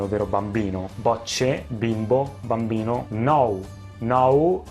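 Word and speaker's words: نو: Nou ha la stessa pronuncia del rumeno, nou, e si scrive molto simile all'inglese nu, e significa nuovo, nou.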